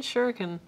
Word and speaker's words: shuriken: which is shuriken I don't know how to pronounce that I'm a white boy no Jade shuriken you got it perfectly I um so two